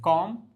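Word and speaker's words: comb: को ब्रश करना एंड कॉम कॉम्प्ड कॉम्प्ड अब यहां पे अगेन एम के बाद बी जो है साइलेंट रहेगा तो यहां पे आप कहेंगे कॉम लेंड लेंड लेंड उधार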